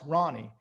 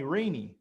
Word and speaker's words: Rany: So when we did the translation on my birth certificate, because originally it's actually Rany, Middle Eastern, but it's pronounced Ronnie. So people would call me Rainy. So I said, no, it's Ronnie.